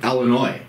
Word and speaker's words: Illinois: Yeah, they pronounce the S.